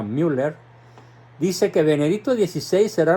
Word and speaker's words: Müller: alemán cardenal Gerard Müller se escribe mu doble R con diéresis en la u por eso se pronuncia Müller dice que Benedicto 16